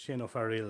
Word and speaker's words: Shane O'Fearghail: I thought Dahiru was hard to pronounce, but Shane O'Fearghail is.